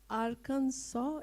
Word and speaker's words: Arkansas: He comes from uh Aransaw. Is that the right pronunciation?